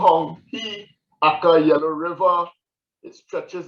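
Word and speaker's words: Huang He: You'll see the Hong-He, it is pronounced Hong-He, Aka Yellow River.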